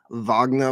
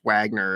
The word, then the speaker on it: Wagner: waged years-long shadow war against Wagner mercenaries in Africa. Although I hear it's Wagner, it's actually Wagner.